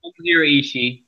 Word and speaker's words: Ishii: Ishii.